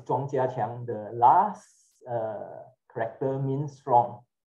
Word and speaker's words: Ch'ng Kiah Kiean: you know mandarin okay the pronounce is chongchia the last character means